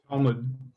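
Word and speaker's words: תלמוד: This one going to be silent or not? What do you guys think it is? Is it silent or not? It's silent. Silent, exactly. So how would I read that?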